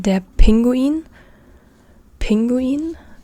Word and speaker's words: Pinguin: the same, it's written the same, but it's pronounced differently. Piano, der Papagei, das Piano, or here, also penguin, the penguin, der Pinguin, der Pinguin, or the pepper, der Pfeffer, but